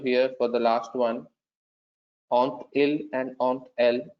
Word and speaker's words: ont-ils: So, ai, as-tu, avons-nous, avez-vous, ont-ils, on tel. Now, if you closely observe here for the last one, ont il and ont el, I am actually pronouncing the T here.